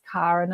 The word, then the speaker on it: Karen: And this is kind of why I get a bit picky about my name being pronounced as Karen and not Karen.